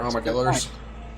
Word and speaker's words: armadillo: Ah, actually, Them there armadillos. What? is armadillo a Spanish word? It is. It's armadillo. But, like, most Texans don't pronounce it, like, with a Spanish accent, because, It's because they're speaking English.